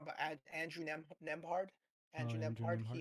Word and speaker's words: Nembhard: Siakam and I always get his name wrong, but Andrew Nembhard. Oh, Andrew Andrew Nembhard. He Nimhard.